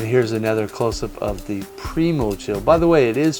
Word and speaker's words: Primochill: And here's another close-up of the Primochill. By the way, it is pronounced Primochill, not Primochill.